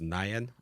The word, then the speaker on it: NIAD: studio manager for the let me see vy pronounces nyan all right yeah perfect now an island art